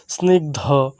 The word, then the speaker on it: স্নিগ্ধ: জোসনা স্বপ্ন ছায়া স্বপ্ন ছায়া বিস্তার বিস্তার সমস্ত স্নিগ্ধ স্নিগ্ধ এখানে রয়েছে দন্তস দন্ত ন আর গ আর ধ আমরা যেটা বলি দহ দহটা না মূলত হবে ধ সরিক উচ্চারণটি হবে ধ গয় ধ স্নিগ্ধ হেমন্ত হেমন্ত বৃক্ষ বৃক্ষ ক্ষেত ক্ষেত মুক্তা মুক্তা